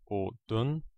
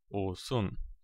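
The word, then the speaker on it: 옷은: But if we add a un, the pronunciation is not o-dun, but o-sun.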